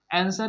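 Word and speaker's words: answer: आंसर में देखिए यहाँ पे डब्ल्यू क्या है?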